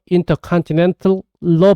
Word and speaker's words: intercontinental: T 사운드를 발음해서 intercontinental로 발음해도 괜찮은데요. 문제는 원어민들이 T 사운드 전부 빼버리고 intercontinental 이렇게 발음하면 우리가 못 알아듣는다는 거죠.